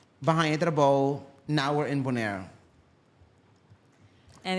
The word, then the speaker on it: Bonaire: yeah, that's Bonaire.